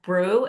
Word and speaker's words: Breaux: We have Brew. I hope I pronounced your last name correctly. It's close enough.